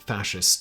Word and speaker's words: fasces: gain the same notoriety as the other prominent fascist symbol, the swastika? The fasces, or more correctly pronounced Fascist, means bundle in Latin and is